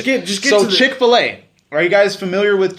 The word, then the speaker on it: Chick-fil-A: get so to the- Chick-fil-A. Are you guys familiar with Chick-fil-A? Yep. The way you make it sound phonetically, Chick-fil-A, right?